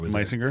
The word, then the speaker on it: Meissinger: the owner uh uh meissinger my singer I said it right yep uh and Trenton